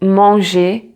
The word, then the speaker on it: manger: But be careful when you have a combination of ER, both letters make the sound E together. Like, for example, in some verbs, like manger, travailler, étudier, parler, So